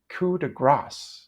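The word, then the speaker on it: coup de grâce: gr instead of gas when using a French word in English we usually don't pronounce the final s people think they're being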